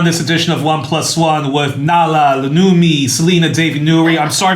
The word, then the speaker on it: Nawoola Loonmi: Well, you're joined on this edition of 1+1 with Nawoola Loonmi, Selena Davy Youri. I'm sorry if I butchered your name. Nawoola Loonmi.